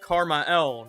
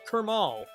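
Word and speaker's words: KrmaL: His name is actually pronounced Karma L, not Kermal.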